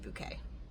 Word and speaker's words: Bucket: Before hyasin married into the family, the last name was bucket, but you can't have a last name bucket if you are class conscious and so you pronounce it bouquet.